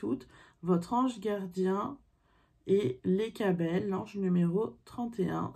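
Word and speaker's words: Lecabel: votre ange gardien et les cas belle l'enjeu numéro 31 ça s'écrit les cas belle l e c à b elle l'enjeu numéro 32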